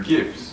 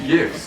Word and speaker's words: GIF: There are GIFs or GIFs if you say it wrong.